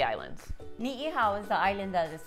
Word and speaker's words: Ni'ihau: Ni'ihau is the island that is farthest north.